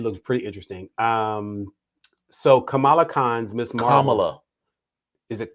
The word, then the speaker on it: Kamala: the girl think the girls are like hey camelot whatever she's like it's kamala and i went to school with a with